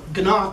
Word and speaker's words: Gnock: So I'm running that base program now, which Ralph Gnock, I pronounced the G out of respect.